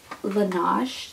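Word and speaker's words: Laneige: that was from pixie um I have this Lage is how you say it it is a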